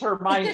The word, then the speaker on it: Hermione: It's Hermione.